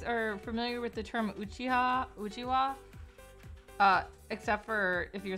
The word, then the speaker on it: Uchiha: So an Uchiha is, and it is spelled Uchiha, it's pronounced Uchiha, is a fan.